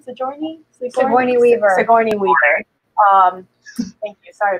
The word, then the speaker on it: Sigourney Weaver: character called Ripley, which the, how do you pronounce her name? Sigourney? Sigourney Weaver.